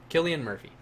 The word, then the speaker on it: Cillian: Killian Murphy.